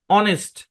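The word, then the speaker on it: honest: থেকে আমরা বলে আসছি আরো কিছু শব্দ এইচ সাইলেন্ট থাকে এগুলো হচ্ছে বিচ্ছিন্ন শব্দ মানে এখানে সেখানে দেখা যায় যেমন যেমন দেখেন অনেস্ট অনার অনার অনার একই বানান দুই রকম মানে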